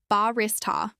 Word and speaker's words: barista: This is pronounced with stress on the second syllable, barista.